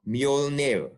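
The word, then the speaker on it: Mjölnir: name of his hammer it's called mule nail but it's spelled with a j so you can see in our modern english we still have this j with an i or y sound now that being said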